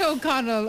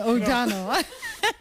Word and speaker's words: O'Donnell: Not O'Connell, O'Donnell.